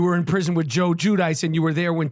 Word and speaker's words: Giudice: You were in prison with Joe Giudice, and you were there when Teresa Giudice was visiting Joe Giudice.